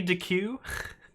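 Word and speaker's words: deque: how do you pronounce deck i'm using collections bundle and i'm not sure how to say it i believe it's just dec it stands for double-ended queue though so it could be dq i'm not sure though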